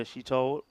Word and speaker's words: Shitol: Yeah, Pooja Shitol just finishes her over. That's the way it's pronounced, by the way.